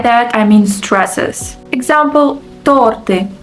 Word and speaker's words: торты: Example, торты. The right stress is on the first syllable, but people often confuse it and say торты.